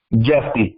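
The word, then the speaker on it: Jephte: Is that, how do you pronounce that? J-E-P-H-T-E? Jeffy, but I go by.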